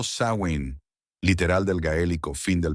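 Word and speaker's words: Samhain: celebraban la fiesta del Samin, pronunciado Sain, literal del gaélico fin del verano, para pedir por una buena cosecha el año entrante.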